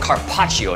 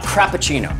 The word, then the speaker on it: carpaccio: has it all a thriving restaurant Cindy it's pronounced carpaccio not crappuccino adoring women as a field to be the